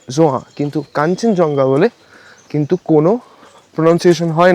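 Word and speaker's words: Khangchendzonga: হিলসের page follow করো ওখানে নিশ্চয়ই শুনেছো যে কাঞ্চনজঙ্গার কিন্তু মানে আসল নাম কাঞ্চনজঙ্গা নয় কারণ আমাদের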